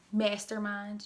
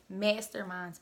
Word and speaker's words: Masked Hair Minds: Pronounced Masterminds. You could just slide it on in there. Masterminds, period.